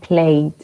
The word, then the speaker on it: played: D. Como si la E no estuviera. Played.